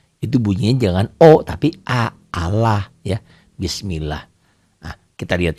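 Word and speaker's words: الله: yang berbaris kasrah itu bunyi jangan out tapi aalah ya bismillah Wah kita lihat contohnya ya cara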